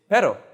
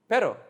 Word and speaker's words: pero: not as in like but but but it's pero pero pero so you can imagine a group of